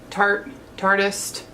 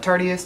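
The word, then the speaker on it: tarteist: For mascara I used the Tartist. Some people call it Tartiest because it's spelled like that, but it's Tartist.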